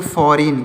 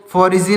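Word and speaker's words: foreign: silent है अगला है एफ ओ आर ई आई जी ए तो इसको पढ़ेंगे फॉरेन क्या पढ़ेंगे फरिन इसको फरिन पढ़ेंगे इसको फोरिजन नहीं पढ़ेंगे इसमें जी साइलेंट है डी ई एस आई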